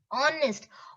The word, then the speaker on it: honest: or honest it is honest honest is wrong h is silent you just pronounce o